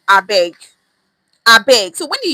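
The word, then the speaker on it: abeg: I beg is spelled A B E G. I beg.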